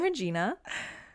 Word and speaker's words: Regina: regina okay fail and it rhymes with katrina i'm regina guys if you haven't